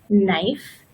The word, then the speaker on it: knife: this quite commonly and the K is silent and it's pronounced just like n so we have no knife and night can anybody